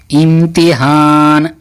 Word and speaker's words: امتحان: کا نام ہے امتحان۔ آئیے امتحان کو ہم لوگ ہجے کر کے پڑھتے ہیں۔ تو چلیے، الف میم زیر ام، الف میم زیر ام تے زر تی ام تی، ہے الف زبر ہا نون، امتحان امتحان امتحان، الف نون زیر ان